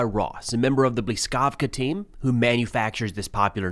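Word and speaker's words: Блискавка: So, am I pronouncing this correctly, Blyskava Blyskavka? It's Blyskavka.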